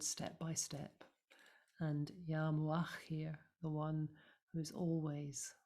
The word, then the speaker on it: Mu'akhkhir: So we'll repeat Ya Muqaddim Ya Mu'akhkhir. So the stress is in the middle syllable each time.